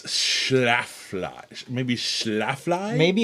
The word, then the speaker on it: Schlafly: how to say it schlafly it's the schlafly pumpkin ale i never realized there was an l in the front i was calling it shaflai oh yeah it's schlaflflash maybe schlafly maybe it's schlafly yeah